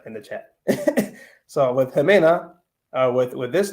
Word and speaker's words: Ximena: the chat so with Ximena uh with with this name here this common name you pronounce the X with uh with lahota with the eight with the J cell and for others who